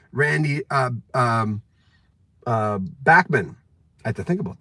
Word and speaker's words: Bachman: Randy, Bachman. I had to think about that. Randy Bachman told me the same thing. It's not Bachman. People say Bachman. He said, I don't care if they say Bachman Turner Overdrive or Bachman Turner.